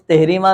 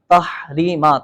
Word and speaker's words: تحریمہ: تکبیر تحریمہ، تکبیر ہاں صحیح تلفظ تحریمہ نہیں ہے بلکہ تحریمہ، تا پر زبر ہے، تکبیر تحریمہ، ہاں پہلی شرط ہے نماز کی تکبیر تحریمہ، اللہ اکبر، صحیح ہے؟